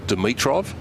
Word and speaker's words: Dimitrov: for quite a while we called him Dimitrov we've had different pronunciations on the ITP website they have a little thing where you can actually hear the player say his name and Gregor says it Dimitrov so that's the way we're going the ammunition code and